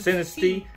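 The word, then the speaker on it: Sinistea: have the shiny sinisti I always say this name wrong it says like Sinestro I'm like thinking of Sinestro or something but no it's synasty cynisty and we have the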